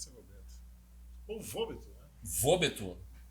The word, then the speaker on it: Wobeto: não, o Vobeto, né? Vobeto, pode ser Vobeto. Ou Vobeto, né? Vobeto. Pronúncia. O alemão, o Deutsch diria Vobeto.